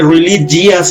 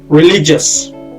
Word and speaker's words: religious: দেখেন এখানে রিলিজিয়াস এরকম বলে না কেউ, এটা ভুল উচ্চারণ। রিলিজিয়াস, এটা জিয়াস হবে না, জাস। ঠিক আছে, রিলিজিয়াস।